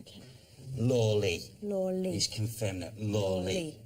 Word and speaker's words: Lawley: George Lawler or Lawley? Lawley. Richard, it's in that Lawley.